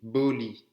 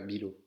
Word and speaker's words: boli: Là, il y a une erreur, c'est Boli. C'est pas Bilo.